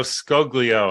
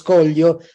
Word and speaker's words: Scoglio: uh today's guest I'm honored to have Stefano scoglio I think I may have even pronounced it correctly or close enough well no